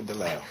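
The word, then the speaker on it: DeLeeuw: lisa deleo right oh some people call it lisa deleuze the correct pronunciation pronunciation is lisa delau i'm glad he's not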